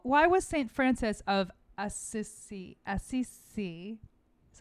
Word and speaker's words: Assisi: hmm cute who why was saint francis of assisi assisi is how you say it you're asking me saint francis of scc why was he considered the first environmentalist ah